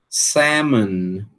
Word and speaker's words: salmon: Não pronuncia também salmon. Salmon, né? Não pronuncia esse l aqui.